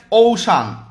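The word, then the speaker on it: ocean: বল Indian ওসিয়ান Indian OC না এটা Indian ওশান উচ্চারণগুলো ঠিক করো ইন্ডিয়ান ওশান কি বলি লিখে রাখছি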